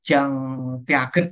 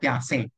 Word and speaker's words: Piaget: Atau teori kognitif punyanya Piaget ini bukan Jean Piaget gitu enggak ya, bacanya Piaget.